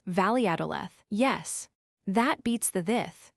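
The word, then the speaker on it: Valladolid: As for the place we're going to next, Viadalid, I pronounced it as a Spaniard does. Valadth.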